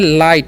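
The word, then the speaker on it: light: हम लोग पढ़ते हैं लाइट यहां पर जीएच साइलेंट होता है ओके उसका उच्चारण नहीं होता है तो लाइट मतलब क्या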